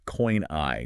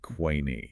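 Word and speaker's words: koine: And uh for those listening, we do use the standard academic Arasmian pronunciation on this deep dive. So it is coini, not qui.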